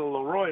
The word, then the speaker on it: LeRoy: Hey, I guess I'm saying Leroy instead of LeRoy. And LeRoy's mom took exception to that, and we still laugh about it. So when people ask me, how do you say your name, they're almost scared and wait for the answer. I say, it's LeRoy.